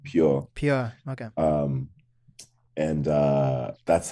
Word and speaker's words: Pur: Is it pronounced Pur or how do you pronounce it? So we were pronouncing it like pure.